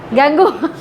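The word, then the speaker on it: gangue: अरे हाँ हाँ, प्रोनाउंसिएशन का गैंग ही होता है।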